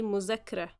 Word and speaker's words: مذاكرة: As you guys can see, we transform the dhal sound into z. Egyptians, as always, tend to make everything easier. So we say مذاكرة.